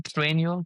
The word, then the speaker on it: Trainual: Trainual. Can you spell that? Train. T R A I N U A L. Like training manual.